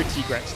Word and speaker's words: Tigrex: So it's just like how the kind of pronunciation kind of crosses the language borders. So yeah, so I go Tigrex now because I'm aware that that's how the team refers to it.